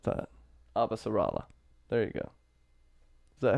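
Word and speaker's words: Avasarala: I like a refuse to pronounce that. Abasarala.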